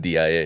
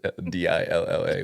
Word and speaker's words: Aguadilla: it's not DIA, it's DILLA, which I don't even know what it means anymore.